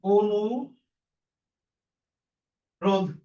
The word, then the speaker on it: অনুরোধ: তাহলে ন এর সাথে রসকার থাকার কারণে এখানকার উচ্চারণটা এর মত হবে। তাহলে হবে কি? অনু রোধ অনুরোধ এরপরে এখানে অন্তস্থ দীর্ঘকার